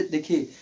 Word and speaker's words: the: कि THE का प्रयोग, THE का प्रयोग कॉन्सोनेंट स्टार्टिंग नाउन के पूर्व किया गया हो तो इसका उच्चारण द किया जाता है, इसका उच्चारण द किया जाता है, ठीक है।